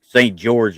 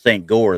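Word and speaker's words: St. Goar: I did a lot of the Christmas markets and there's one St. George is the way it's pronounced here, but it's St. Gore there.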